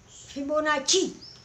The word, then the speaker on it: Fibonacci: this fibonacci sequence now this is double c is cha fibonacci as we have written